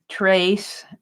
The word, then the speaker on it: tres: And he's going to be saying, trace, and maybe I can get this printed out. So he's going to be saying 3 wishes. TRES, but it's pronounced TRACE, Tres deseos.